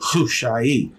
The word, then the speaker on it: Hushai: And the other, Hushai, is how it is pronounced. The H sound has that hard K to it, Hushai.